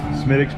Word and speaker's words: Smithwick's: Also drinking Smithwick's. Smittix. Have I been saying it wrong? Okay. Smittix beer.